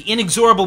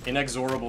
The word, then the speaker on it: inexorable: Joel punctured him, but Will, the inexorable march oh, yeah. of Will, yeah. rolls on. The will to power. It's inexorable. You put yeah. the emphasis on the wrong syllable. Inexorable is not a word.